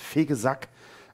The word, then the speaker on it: Vegesack: gesagt heißt tatsächlich also also da wird nichts vornehmen sturm ausgesprochen es heißt vegesack bei und das schönste ist